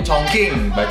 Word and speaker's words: Chongqing: Dari Chongqing, bacanya Chongqing.